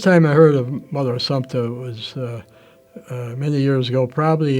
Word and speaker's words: Assumpta: And I remember correcting her on the pronunciation of her name, but he kept insisting it was Assumpta. I thought it was Assumption.